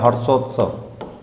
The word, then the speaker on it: हर्षोत्सव: इसमें रेप है जो ऊपर लगता है रेप। ठीक है? उसका उच्चारण क्या होता है? जिस वर्ण पर लगा होता है उससे पहले उसका उच्चारण किया जाता है।